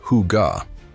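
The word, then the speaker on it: hygge: It's called Higa, pronounced huga.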